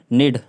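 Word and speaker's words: need: इधर जैसे कि इधर नीड, नीड नीड में भी कनीड नहीं पढ़ रहे हम लोग, है ना। कनीड नहीं पढ़ रहे, नीड पढ़ रहे, नीड नीड, NEAD नीड, ठीक है।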